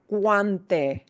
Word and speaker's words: guante: We pronounce each vowel, they just slide together. So we have cuando. Cuando. We have guante.